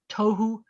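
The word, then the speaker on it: תֹהוּ: all of your breath when you say tohu you have to let all your air out to say those things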